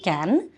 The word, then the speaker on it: Cannes: Only it sounds a little weird when you say cans. The S should not be pronounced, because I think the French do not pronounce the consonant after the vowel. So if you do can, it's okay.